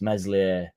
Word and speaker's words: Meslier: says rodon actually hates meslier silent s and it doesn't say